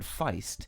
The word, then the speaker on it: feist: of the Southern us the word Feist pronounced to rhyme with Heist has been used since